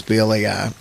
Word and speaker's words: Bly: And Adam Bly, I think it's the pronunciation is Blai.